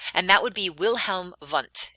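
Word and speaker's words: Wundt: that would be wilhelm vunt if you want to pronounce it in the german way so this is when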